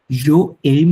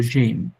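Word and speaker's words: j'aime: এটা উচ্চারণ হয় জো এইম না বলে আমরা একসাথে বলে ফেলবো জেম, টু এইম, ইল এল এইম, নু এইমো, ভু এইমে, ইল এল এইম।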